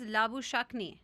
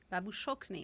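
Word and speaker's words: Labuschagne: you were right that the perfect pronunciation is labush Shak yeah laush it sounds like a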